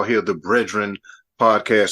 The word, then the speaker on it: BREADren: Well, You missed us to another rousing rendition of what we like to call here the BREADren podcast. That's bread spelled like bread, BREAD, because we always talk about bread and we always get into it.